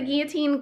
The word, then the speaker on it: guillotine: the printers i now have this professional cutting guillotine i said it wrong to my sister and she laughed at me so it's a guillotine cutter i can cut like 30 sheets at